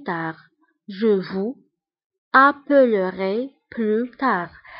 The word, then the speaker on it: tard: Je vous appellerai plus tard. Je vous appellerai plus tard. Je vous appellerai plus tard.